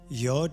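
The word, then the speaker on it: יוד: Yod is pronounced as an I or a Y, and corresponds with the Greek letter iota.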